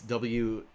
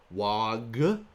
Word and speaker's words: Waaagh: And why it's WAAAGH, and how apparently people all this time have been saying WAG or WAR, and it fucking blows